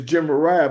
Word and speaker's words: Gemariah: So here his name is pronounced, what's his name pronounced? Germa, I think it's Gemariah. It's Gemariah, but because that Het is on the end, the Ashkenazis give it an invisible K sound or invisible CK sound.